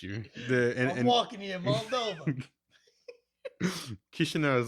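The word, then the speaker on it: Chișinău: Chisinau is like right in the middle of Moldova, like in the territory or whatever.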